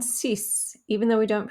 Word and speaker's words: six: k sound was so we do pronounce the x on cis even though we don't